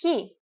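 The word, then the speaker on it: χι: Its name is he. It is also a consonant, and its sound is h.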